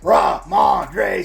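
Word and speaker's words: Rhamondre: and let's say it like we mean it ra mandre Stevenson as they take on the Arizona Cardinal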